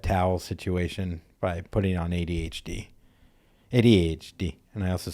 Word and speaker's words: ADHD: situation by putting on ADHD. ADHD. And I also say it like an Italian waiter. You do. You put emphasis on the H.